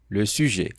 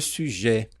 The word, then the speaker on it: sujet: Tem gente que fala um pouco mais fechado, le suje e um pouco mais aberto. Le sujet sujet. Fica a seu critério para escolher a melhor pronúncia, já que ambas estão corretas.